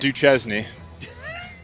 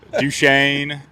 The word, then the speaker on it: Duchesne: correct that's right yeah not Duchesne duen yeah yeah we get we get a lot of it duchan yeah yeah all the gamut duchan High School St Charles